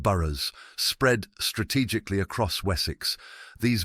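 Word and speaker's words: burh: He envisioned a network of fortified towns called burrs, pronounced burers, spread strategically across Wessics.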